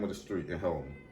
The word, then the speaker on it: Helena: You said it right. It's Helena. He from Helena.